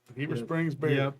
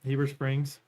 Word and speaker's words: Heber Springs: what blurs wow Heber Springs beer that's uh Hebrew Springs Heber Springs yep we'll see I grew up in Oklahoma